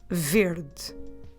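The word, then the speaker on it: verde: is weird but although although it ends at e we drop it when we pronounce it so we say verd verd so if i'm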